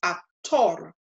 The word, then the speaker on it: actor: And so the stress is going to be on the last syllable, the tor. And so this word, in pronouncing it the Spanish way as an exact cognate, becomes actor, actor, actor.